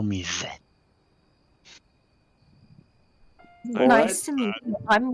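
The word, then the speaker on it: Zedt: Zed. Yes, same. Zed. Oh, I blame us being high up in the tree. Still. It's Z-E-D-T. The D is silent.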